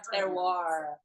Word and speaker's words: terroir: For those of you wondering how to say this, it's terroir.